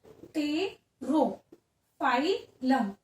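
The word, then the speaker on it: Pterophyllum: एंड the last example इसके अंदर आ जाएगा कौन सा, लास्ट एग्जाम्पल हो जाएगा इसमें टेरोफाइलम, पी साइलेंट रहेगा, टेरो, टेरो फाइलम, तो टेरोफाइलम।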